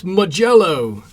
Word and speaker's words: Mijello: saying my pyro red magello magello that's how you say it like yo that's mijello like when somebody tries to take your jello you know kind of